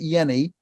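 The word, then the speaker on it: Jehne: He pronounces it Yenny.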